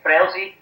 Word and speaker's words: Frelsi: Yeah, you're saying it right, Frelsi.